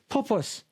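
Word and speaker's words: purpose: 이건 꼭 하셔야 돼요 퍼포스 목적 의도 용도 발음 조심하셔야 됩니다 puffers puffers 전체적으로 요구하나요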